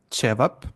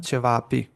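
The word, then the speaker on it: ćevapi: So, for example, some words have specific place for the accent. So Hmm. one, cevap, jedan cevap, but Hmm. cevapi is plural on A, Hmm. Yes, but in the not beginning, a cevapi.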